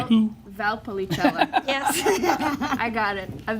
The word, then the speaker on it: Valpolicella: How do you pronounce that again? Carolina? Valpolicella. Della Polisana? Valpolicella. Might say who? Valpolicella.